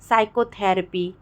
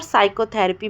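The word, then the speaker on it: psychotherapy: अगर एस के पहले पी आ जाए तो पी साइलेंट हो जाएगा। साइकोलॉजी, साइकेट्रिक और साइकोथेरेपी मैंने एग्जाम्पल दिया।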